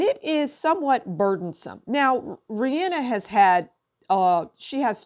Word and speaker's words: Rihanna: the Exotic Rihanna Rihanna her pronunciation is Rihanna but people call her Rihanna I don't think she